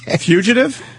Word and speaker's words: fugitive: Fugitive. Fugitive. Like centrifuge. Fuge. Fugitive.